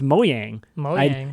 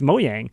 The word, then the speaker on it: Mojang: learned that during this conference that mojang is pronounced mowing I did not know that that changes everything